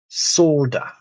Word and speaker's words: solder: Pronounce the L. Solder.